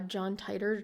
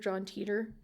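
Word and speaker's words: John Titor: noticeable one is uh John titer John Teter it's pronounced both ways sometimes who is supposedly this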